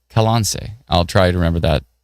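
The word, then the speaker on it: Colonsay: Tammy says, you pronounce it Kalonze instead of colon say. I naturally would have gone with colon say, but it's Kalonze.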